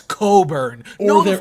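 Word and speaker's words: Cockburn: a Kofi Cochburn said it's No, it's Coburn.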